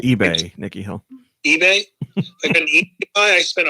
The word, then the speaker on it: ube: like a sweet potato it's pronounced ebay nikki hill ebay i